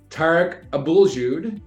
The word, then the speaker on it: Tarek Abouljoud: has a a similar challenging last name to pronounce as mine uh we're with tar Abul Jud he is the owner and founder of Teta